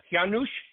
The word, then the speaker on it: Juhasz: So if you forgot about the J and cover the Z.